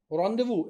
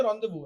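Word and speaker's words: rendezvous: रॉन्डेवू एक word होता है इंग्लिश का, आप कभी उसकी स्पेलिंग देखिएगा कितनी भयानक होती है, लेकिन उसको बोलते रॉन्डेवू है।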